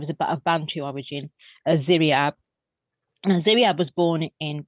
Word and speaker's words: Ziryab: Ziryab. He sounds Ziryab. incredible. Yeah. How do you spell that?